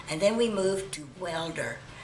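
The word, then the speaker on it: Waelder: And then we moved to Welder, and it's spelled W-A-E-L-D-E-R.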